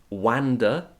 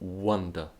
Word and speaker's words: wonder: thing about that phrase the pronunciation of the verb wonder wonder wha wonder it's not wander or wonder but wonder be careful with that okay the third tip